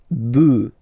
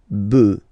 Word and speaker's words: bœufs: just add this S, but then pronunciation changes quite much, because you get des bœufs, all right, un bœuf, des bœufs, all right.